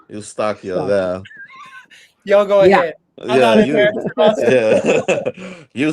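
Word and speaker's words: Eustáquio: I think Chris is trying to tell us it's pronounced like this. Eustachio.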